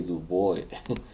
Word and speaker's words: Dubois: Yeah, I favored Dubois to win. or as some say, Dubois. I know some of you Americans say that.